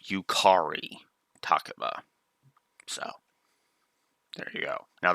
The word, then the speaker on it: Yukari Takeba: And yes, I pronounce it that way because that's what every dub of, every time she has shown up in future Persona works, the English dub pronounces it Yukari Takeba.